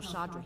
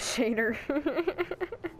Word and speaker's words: Shadr: Tell Shadra he can forget the debt. Oh, that's how you pronounce it. I thought it was Shader. Shader. Nice. Sounds like fodder.